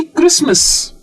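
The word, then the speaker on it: Christmas: एसटी आ जाता है जैसे कि क्रिसमस तो क्रिसमस में तो स्ट आया ही नहीं ट तो डेफिनेटली नहीं आया स फिर भी आ गया तो ऐसा क्यों या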